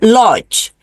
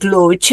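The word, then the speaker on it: Łódź: conference Eura conference in Lodge. They pronounce it Luch.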